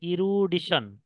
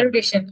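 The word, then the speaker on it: erudition: বলেন ওকে ইউরিডিশন ইরু ইরু you sorry এটা প্রোনাউন্সিয়েশন সেটা হবে ইরুডিশন ই আর ইউ ডি আই টি আই ও এন ই আর ইউ ডি আই টি আই ও এন ইরুডিশন ইরুডিশন ওকে ইরিডিশন ওকে হ্যাঁ এটা কি আপনার পরিচিত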